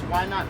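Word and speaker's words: YNOTT: It's Why Not Foundation? Yes, why not? And it's spelled Y-N-O-T-T, and it's an acronym for Youth Needing Organ Tissue Transplants.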